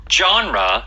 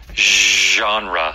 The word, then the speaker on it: genre: that is Je uhuh it's not genre uh some people do say it like that but most often it's genre genre genre that is very French okay and Dalia says